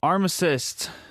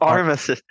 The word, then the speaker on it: armistice: So arm assist. I'm sorry, could you say that to me again? The arm assist. Did I say it right? The armistice. The armistice. Armistice. There's a T snuck in there.